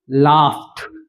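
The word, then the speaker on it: laughed: लाफ्ट, ट, लाफ्ट जी। एक और एग्जांपल देख लीजिए, डांस, स्पेलिंग में लास्ट में सी और ई आता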